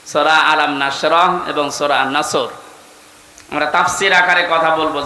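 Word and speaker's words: نصر: এজন্য তেলাওয়াত যখন করবেন সদ উচ্চারণটা মুখ গোল করা লাগে আল্লাহ পাক জানিয়েছেন যখন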